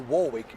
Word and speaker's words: Warwick: the singing legend herself, Dionne Warwick, or Warwick, depending on which way you pronounce that last name.